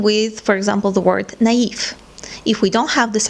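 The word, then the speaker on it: naïve: non the same with for example the word naive if we don't have this accent we have to pronounce this word as nev so this accent shows us that you have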